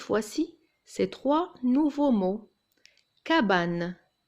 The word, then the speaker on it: cabane: Cabane. Il y a un A après le C et ça se prononce K, cabane.